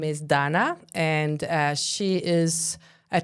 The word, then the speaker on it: Dana: That's how I pronounce it, isn't it? Donna. D. Yeah, Donna. Dana. But not Dana. Not Dana. Donna.